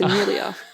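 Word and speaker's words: Emilia: Sorry, we were talking about Game of Thrones today, and I still said her name wrong. It's Amelia. It's because it's an E at the beginning, and I always get really confused.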